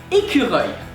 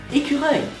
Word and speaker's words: écureuil: So the first part, é. How to pronounce it? Well, that's pretty easy. You take the word hey, and you remove the H and the Y, and you pronounce it. No, not E. I'm not talking about letters, I'm talking about sound. So hey, you remove the H, A, you remove the Y, eh.